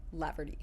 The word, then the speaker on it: Laverty: and This Is laugherty hello did I say your name wrong no no lty yeah like it's a v yes and the T I would say sounds more like a d lardy yeah okay mhm which